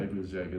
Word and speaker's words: Gebirgsjäger: Now, if I can pronounce it, Gebirgsjäger. Is that right? Gebirgsjäger, yeah. Gebirgsjäger, the veteran ski mountain troops.